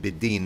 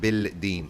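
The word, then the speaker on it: بِالدِّينِ: Yukadhibu bid-deen, he lies about the deen. Yukadhibu bid-deen. And you notice I said bid-deen, not bil-deen, even though there's a lam here.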